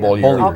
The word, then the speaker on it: Bollier: Bollier. Okay, all Bollier. right. I want to pronounce it like the French would.